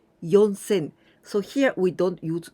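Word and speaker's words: 四千: remember this but when we say four thousand we used instead of shi yon sen so here we don't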